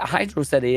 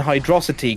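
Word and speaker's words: Hydrocity: a cool word and is what the game does it is not how Hydro city is pronounced look it's not my problem that the viscosity the VIS osity of the water in hydrosity causes you a problem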